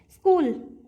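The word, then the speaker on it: school: आपको राइट करने हैं स्कूल स्कूल कैसे लिखते हैं जैसे स की आवाज स की साउंड होती है तो सिंपली स क की सी एच है लेकिन हमें जो भी वर्ड्स होगा उसको हिंदी में बोल के देखना है जैसे हम लिखते हैं ऐसे स्कूल ठीक है तो हमें साउंड के साथ जाना है ना कि जो वर्ड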